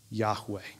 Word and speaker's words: Yahweh: is with you for the very name of God is pronounced like you're breathing Yahweh with every breath you